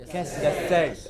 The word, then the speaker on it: cassette: Cassette. It is cassette. The first syllable is hardly heard. It is not ca, it is just ka.